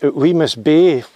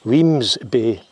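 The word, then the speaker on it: Wemyss Bay: i got a ferry from we miss bay which is probably pronounced wrong the bus driver corrected me and said weems bay why don't we just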